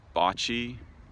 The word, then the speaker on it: bocce: I'm walking around the the bochy fields are bocce the correct pronunciation as my friend Ryan